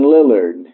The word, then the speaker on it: Lillard: Portland Trailblazers 4 to 1 we have Damian Lillard am i correct yes that's how you pronounce it we he insults the President of